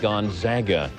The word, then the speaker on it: Gonzaga: reminder to us sportscenter anchors the school is pronounced gonzaga after meeting up with joe smith and the